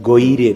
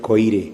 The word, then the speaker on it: Goire: Goire, not Koire.